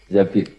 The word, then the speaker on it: Zabir: Zabir di hadis ini bukan bacanya bukan Zubair tapi Zabir Abdurrahman bin Zabir tapi